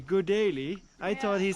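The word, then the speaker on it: गुलेली: to say slingshot in Nepali you can say good daily I thought he said good idea good idea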